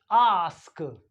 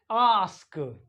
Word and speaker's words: ask: ए एस S class and ए एस के आस्क ए एस के आस्क एंड बी ए एस के टास्क बास्क एंड